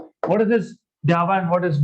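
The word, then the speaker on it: ∂: लेकिन आपने डेरिवेटिव लिया only with respect to x, तो इसको बोलते हैं डाबा, पार्शियल डेरिवेटिव्स, और प्रोनाउंस करते हैं डाबा.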